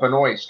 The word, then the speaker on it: Benoist: But I am happy to say that Melissa Benoist, right? Is that how you say her name? Mm-hmm.